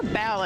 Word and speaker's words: Bow: We love Bo. Or Bao, as some people pronounce her name as. I always say Bo. I also have said Bo. Well, she does have two big old bows in her head.